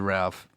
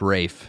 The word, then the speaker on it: Ralph: said Ray I said Ralph. It's actually Rafe in the It's Wait, what do you mean it's Rafe? It's spelled Ralph. It's pronounced Rafe.